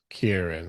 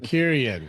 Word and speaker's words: Kieran: Kieran. I'm like, Kyrion, he's like, you're adding an I. There's no I there.